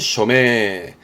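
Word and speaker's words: 署名: 발음은 쇼메.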